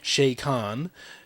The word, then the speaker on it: Chakan: own thing and uh Shayan as uh it's apparently pronounced uh got his own